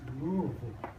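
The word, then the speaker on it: Lily: box in Lille Kentucky by the way that's pronounced Lille and now did they write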